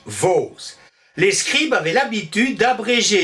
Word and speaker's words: vaux: rien de valve s'est d'abord prononcé vase puis l'articulation dual puisqu'on sommes à évoluer vers le son os c'est une vocalisation on dit vaut les scribes avait l'habitude